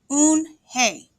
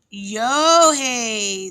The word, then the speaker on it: Unhei: It's spelled Unhei. It's pronounced Eunhae." "Oh, it's Yo-hey," the boy said.